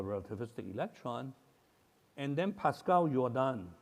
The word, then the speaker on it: Jordan: electron and then Pascal yordan yordan or As Americans pronounced it Jordan uh convinced the dur